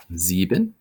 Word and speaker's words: sieben: six even is next Z bin and once again this is is at the beginning of the syllable and is followed by a bound so it's Z bin instead of Sieben then comes ah the